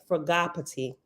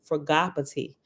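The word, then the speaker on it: Fragapatti: correctly um that uh Cosman cow said that the proper pronunciation was fragoppity now for Gravity because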